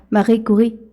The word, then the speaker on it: Marie Curie: Mariah Curie. Bueno, de hecho esa es pronunciación francesa. Marie Curie.